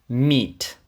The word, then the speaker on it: meet: Meet зустріти зустрічати і тут важливо те що подвійна і робить Просто довгий м'який звук і Meet My name is John